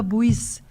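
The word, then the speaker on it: Buić: E na Yugoslávia, a Yagoda Buis, e a Yagoda, se escreve Buic, é, ela ganhou um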